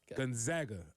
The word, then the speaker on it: Gonzaga: Gonzaga or Gonzaga? Gonzaga. All right. They're the Zags, not the Zogs.